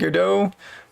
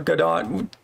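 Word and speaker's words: Godot: Um there's Unreal, um Unity and GDO or GDOT depending on how you prefer to pronounce it.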